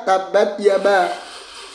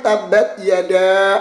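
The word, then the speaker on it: تبت يدا: Kemudian bacanya juga tabat yaba. Ada ngakak teman-teman. Seharusnya kan tabat yada abila habi watab.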